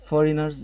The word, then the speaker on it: foreigners: Foreigners يعني الأجانب. Foreigners هناخد بالنا الجي اللي هنا silent. Silent ما بتتنطقش. يعني كلمة foreigners مش هقول الجي.